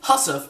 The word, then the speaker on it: hussif: First up, hussif is an archaic pronunciation of housewife.